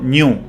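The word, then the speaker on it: GNU: propias palabras los damos genio o correctamente pronunciado new como el antílope africano de ahí su mascota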